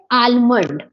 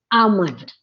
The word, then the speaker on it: almond: That is the wrong pronunciation, in which we have to drop the sound of L. L is silent in it is almond. Almond. Almond. Almond. Almond. It is not almond. So that is the problem.